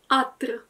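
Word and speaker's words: قطر: Ale w większości słów ta litera jednak zanika i na przykład w dialekcie egipskim pociąg to jest katr, natomiast Egipcjanie i tak powiedzą atr.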